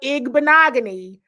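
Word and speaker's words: Igbinoghene: Took me until week 15 to learn how to say his name because it would just be Noah I. But Noah Igbon. Now I can say it.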